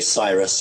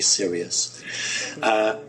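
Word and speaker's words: Sirius: interesting group from what you guys would pronounce is serious or site we say Cyrus I think you say serious and they are very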